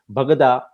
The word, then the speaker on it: Bhagadatta: Bagada, Bagada, Bagada. That's how they say it. I say okay, and jokingly I said just like French language, the T is silent. Bagadatta, the T is a silent.